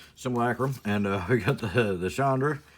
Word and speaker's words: Simulacrum: Simulacrum.